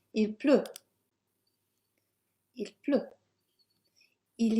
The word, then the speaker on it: Il pleut: Il pleut. Again, we have another letter that's not pronounced. Let's get that highlighted. No T sound. Il pleut.